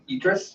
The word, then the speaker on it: Idris: I heard pronounced Idris. Idris Elba.